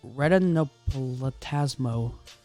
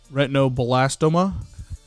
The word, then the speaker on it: retinoblastoma: And then there's retinoplatasmo.